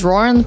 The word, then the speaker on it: Ruren: me my name is ruren pronounced like Lauren with an r and I'm your social